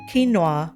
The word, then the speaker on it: quinoa: Now I didn't think twice at the time because people always look at me all funny, but you guys, I learned that it's actually pronounced quinoa. Ugh.